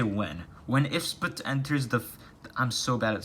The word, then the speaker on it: IFSBT: It's spelled IFSBT, but it's pronounced Ifsbut, alright?